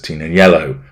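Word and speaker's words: Tignanello: blog was inspired by the full-bodied red wine known as tin and yellow which of course makes no sense whatsoever because it's a silent G no announcement has been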